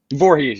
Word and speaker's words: Voorhees: Is it Voorhees? Voorhees. Yep. Just like Friday the 13th.